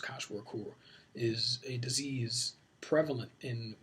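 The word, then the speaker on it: Kwashiorkor: Koch Work, if I always mispronounce that, but I think it's pronounced Koch Work, is a disease prevalent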